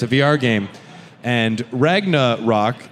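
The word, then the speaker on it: Ragnarock: a VR game and ragna rock is kind of How It's pronounced like rock but it's similar to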